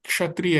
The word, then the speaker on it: क्षत्रिय: जैसे क्षत्रिय है तो उसमें क्या हो रहा है? पहले आ रहा है तो लोग क्षत्रिय बोल देते हैं लेकिन जहां पे पीछे आ रहा है मोक्ष है ना वहां पे लोग सही बोलते हैं। लगभग सही बोलते हैं। तो जैसे क्षय हो गया क्षय तो यहां पे गलती हो सकती है क्योंकि यहां पे क्षय कई लोग बोल सकते हैं।